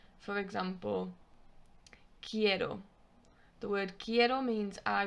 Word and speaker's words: quiero: quiet it's q u in spanish you don't pronounce the u it's just a k sound for example quiero the word quiero means i want you would say quiero and it's q-u-i-e-r-o quiero or for example